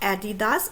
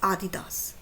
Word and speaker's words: Adidas: It is not Adidas, it is Adidas. Okay, so there are many